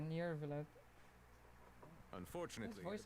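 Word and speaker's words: Neuvillette: How do you say his name again? Nirvalet? Yeah, Nirvalet.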